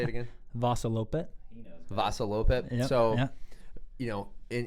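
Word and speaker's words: Vasaloppet: Vassalopet.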